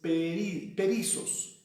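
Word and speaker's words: περισσός: Esta palabra perizos, que se escribe como suena, perizos, solamente que con doble S, S-S-O-S, perizos.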